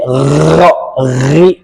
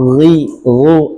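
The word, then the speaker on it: غ: Nah, untuk gin dan qo kesalahan yang seringki terucap oleh gain adalah merubahnya menjadi G ya. Misalkan magdubi, magdubi atau berlebihan dalam ee mengambil pengucapan gin sehingga bunyinya jadi gah itu juga keliru. Dia caranya lebih halus. Go, ghi ghu ag id ya.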